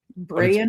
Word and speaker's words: Bryan: He spells it B r a Y an Brian. Pronounced Brian. That's pronounced Brian.